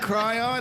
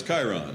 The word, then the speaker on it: Chiron: daddy stop fighting oh is that cry on no no it's chiron oh i did spell